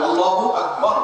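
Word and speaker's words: الله أكبر: আল্লাহু আকবার উচ্চারণ করার সময় আকবারের রাকে টেনে পড়া ঠিক হবে কিনা? না, ঠিক হবে কেন? তাকবীরের সাথে বলতে হবে আল্লাহু আকবার, আল্লাহু আকবার, এরকম বলা যাবে না।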